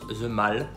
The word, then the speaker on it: The Mall: pas du tout ici ça se prononce the mall voilà le mal c'est la grande allée